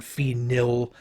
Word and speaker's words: phenyl: So when I teach this, I often times try to really over pronounce that name. So I'll say phenol and phenyl, trying to make sure that I'm distinguishing between those two things as much as possible.